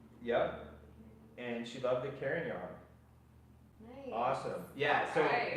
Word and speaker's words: Carignan: the trick is Carignan. Yep. That's how you say it. So- Carignan. I like to reference the Kansas song "Carry On, My Wayward Son."